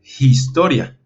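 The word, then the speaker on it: ἱστορία: jota por lo tanto la pronunciación de esta palabra sería como historia porque porque está este pequeño espíritu que es el espíritu áspero nos da un sonido como de jota o como de h así que hay que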